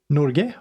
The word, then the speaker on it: Norge: this how you pronounce Norge. it there? Okay. And I've actually, depending, I guess, where in Norway you're from, you either say Norge or Norge.